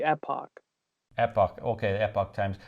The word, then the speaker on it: Epoch: Depends on where you're at. If you're in the UK or Canada, it is Epoch. Right. So technically in American English, it would be Epoch.